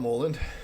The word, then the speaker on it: Mouland: Um so, my name is Mullen, um often pronounced as Mullen, and either's fine.